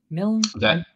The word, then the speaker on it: Milne: Did I pronounce that right, Miln? That is, and it's a very rare thing to pronounce right, which is shocking.